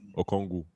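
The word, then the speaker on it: Okongwu: Okongu. Okongu. That's how you pronounce it.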